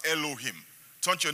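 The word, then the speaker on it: אלוהים: is translated as Angels is actually a Hebrew word that is pronounced as Elohim turn to your name and say Elohim Elohim and Elohim is a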